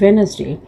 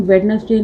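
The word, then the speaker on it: Wednesday: And last is वेनसडे, इसमें जो हमारा डी है वो क्या है, साइलेंट है, तो वेनसडे लिखेंगे हम इसको, VNSND, वेनसडे। इसे हम वेडनेसडे नहीं, इसे हम वेनसडे प्रोनाउंस करते हैं।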